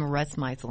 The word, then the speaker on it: Rusmisel: Yeah, we have an amazing guest today, Rusmisel. Am I pronouncing your last name right?